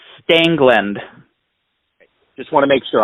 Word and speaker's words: Stangeland: you pronounce your last name correctly it is pronounced stangland just want to make sure I don't want